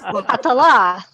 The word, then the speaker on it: Catala: Catala, like falala, Catala.